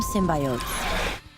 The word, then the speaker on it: symbiote: We call them symbiotes.